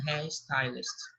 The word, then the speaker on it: Harry Styles: não pronuncia olhar mas no inglês a gente pronuncia com pão de r então vai ficar a real style não é em harry styles ah tá o enorme teste um arquiteto um